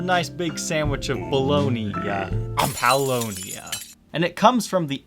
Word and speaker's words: Paulownia: If you think it's time for Halloween with Paulownia, you're wrong. Think Pau P-A-U right here. Think the Muse song Knights of Sidonia.